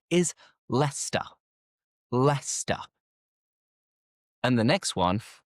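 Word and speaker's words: Leicester: Lester. And for many people, what you're thinking of is leester, right? Leester. But no, forget the ce because the correct pronunciation is lester.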